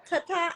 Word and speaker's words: Tata: she yes she's learning to dance from her Tata and Tha how do you how to pronounce that correct tat yes that's what we